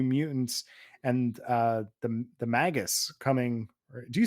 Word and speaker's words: Magus: or Magus how how do you say that I say megus because I megus because I'm pretty sure it has to it's based on uh the wizard from the Bible Simon megas oh okay well isn't